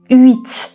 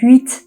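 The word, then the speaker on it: huit: Ü. Ü. H sesini hiçbir şekilde duymayacağız. Yani hüt değil. Ü.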